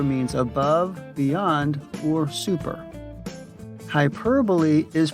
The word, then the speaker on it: hyperbole: hyperlink hyperventilate or hypertension instead the stress falls on the second syllable per hyperbole also you'll notice that